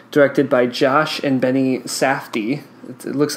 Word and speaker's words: Safdie: I've listened to people say it, so they pronounce it like that, Safdie.